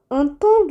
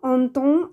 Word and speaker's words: entendent: Les jumeaux entendent les sirènes. இரட்டையர்கள் siren சத்தத்தை கேட்கிறார்கள். entendre என்ற வினைச்சொல் les jumeaux இரட்டையர்கள் பன்மையாக இருப்பதனால் நிகழ்காலத்தில் entendre ENT என்று முடியும். ஆனால் இங்கே ENT உச்சரிப்பு செய்யக்கூடாது.